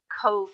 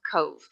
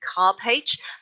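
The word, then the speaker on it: Cobh: here so our next stop today is to cove heritage center in the town of cove now if you look at the name here c-o-b-h you'd immediately think you'd pronounce it maybe cop h but the bh in irish australia is pronounced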